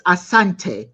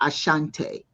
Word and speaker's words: Asante: He says, it's not Asante, it's Asante, not Ashante. The English could not pronounce the word properly, so they put the H in Asante to suit themselves.